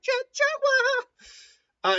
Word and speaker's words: Jaguar: You gotta always say it like Jaguar.